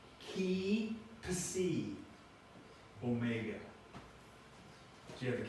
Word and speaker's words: Psi: How do you pronounce the three just below each one? Phi, F-E-E, Ki, K-E-Y, Psi, P-S-E-E. So Phi, Ki, Psi. So in sororities and things, you might say Phi, Chi, whatever.